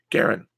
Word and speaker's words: Garin: okay Garin says my name is pronounced like Aaron with a G Garin okay don't worry you're not the first one to mispronounce it you won't be the last Garin I like that okay